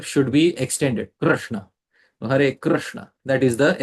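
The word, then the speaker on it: Kṛṣṇa: So if you have seen in Roman case, Krishna, the R has a dot below it. It is a vowel. So the exact pronunciation should be Krishna. The R should be extended. Krishna.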